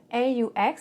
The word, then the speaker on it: aux: Mais si c'est A plus les, on dira O. AUX is pronounced O.